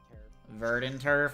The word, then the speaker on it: Verdanturf: Actually, it's pronounced Verdanturf?